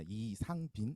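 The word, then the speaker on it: 이상빈: to his work because my name is pronounced in Korea Yi Sang-bin, and uh, and the poet's name is Yi Sang in pronounced in Korean. So we sharing two same characters, so it's pronounced really similarly.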